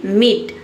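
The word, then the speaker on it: meat: ई जैसे कि मीट।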